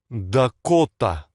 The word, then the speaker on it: Дакота: The emphasis is on the O here. Dakota. And this is subtle, but notice that in the English version, our unstressed A's sound more like We say Dakota. Dakota in English.